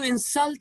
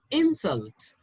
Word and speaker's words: insult: a couple of more words why did you insult him why did you insult him i take that as an insult i take that as an insult don't desert